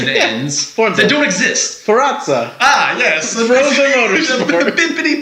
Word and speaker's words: Forza: it's just something that people constantly mispronounce. It's Forza. Yeah. Even though I mispronounced that one on purpose to a degree. No. That's fine. You can call it Forza. You don't need to do the Italian pronunciation. It's fine. Sure. Forza. I'm fine with either one. But when people call it Forenza, oh, that's pretty bad.